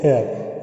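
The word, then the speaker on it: heir: तो an hour, N एयर, तो यहाँ पर हेयर नहीं पढ़ेंगे बल्कि एयर यानी बारिश एक्सेट्रा।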